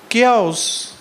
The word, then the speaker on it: chaos: इसके लिए क्या हो गया, सारी दुनिया में गड़बड़ है, जिसको इंग्लिश में कहते हैं chaos। बराबर बोल रहा हूं कि स्पेलिंग बराबर, प्रोनाउंसिएशन chaos, CHAOS, chaos।